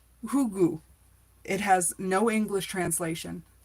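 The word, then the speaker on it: hygge: the example to follow the Danish have a word pronounce hugu it has no English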